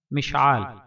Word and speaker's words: مشعال: سے تعلق رکھتے ہیں۔ تلفظ اور اعراب: مشعال، میم کے نیچے زیر، شین پر جزم، عین پر زبر، الف کے ساتھ لام ساکن۔ مشعال، میم شین زیر مش، عین الف زبر آ، لام ساکن، مشعال۔ مشعل، میم کے